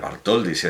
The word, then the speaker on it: Bartholdy: hermana jacob salomón bartholdy voy a pronunciar vaart hol dice es que todo tiene